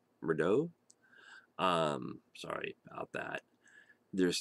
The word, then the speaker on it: Murdaugh: pronounce your last name I think it's pronounced murder um sorry about that